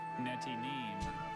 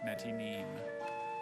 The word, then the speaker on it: Netinim: Netinim. Oh. May I have all? I think it's just called explosion. Netinim is the only pronunciation.